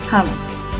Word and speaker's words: hummus: smell more chicken almost hummus hummus like thomas anyway i'm gonna taste